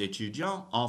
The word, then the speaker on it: étudiante: So je suis étudiant en français. That's for a guy. For a girl, je suis étudiante. En français, je suis étudiante en français, right? Girls, you have to pronounce the T sound, right?